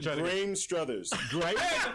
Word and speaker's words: Graham Struthers: Graham Struthers. He makes it sound so easy. Hey, it's spelled completely different. It's spelled crazy. That's the English language for you.